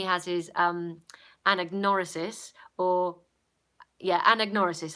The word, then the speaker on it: anagnorisis: his anagnorisis or yeah and ignore assist that's how you pronounce it I mean M pronounced